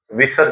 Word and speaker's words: विसर्ग: आश्रित स्वराश्रित महाप्राण ध्वनि जिसका उच्चारण है की तरह होता है। उसको हम क्या कहेंगे? विसर्ग कहेंगे। इसका उच्चारण प्र जैसा होता है। अतः और कहीं हा की जगह होता है बालाह संस्कृत में पढ़ते हैं बालाह हा का उच्चारण भी होता है।